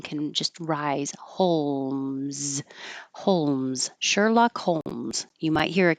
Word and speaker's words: Sherlock: have separate vows so Sherlock I'm using ER like her which is how I usually pronounce sure although this word could